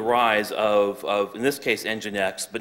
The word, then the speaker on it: Nginx: Nginx, by the way, is spelled N-G-I-N-X, and Light HTTPD.